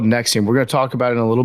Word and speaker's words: NXIVM: it I just don't I forget how to pronounce it but it's called Nexium we're going to talk about it a little